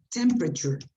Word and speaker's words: temperature: Another word that sometimes give temperature. When you have long words, when I say long words, I mean more than at least 3 syllables, you must shorten it. So the pronunciation is temperature.